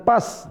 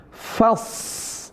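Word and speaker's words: فاصبر: Bukan pas tapi faas. Ah fas bukan pas.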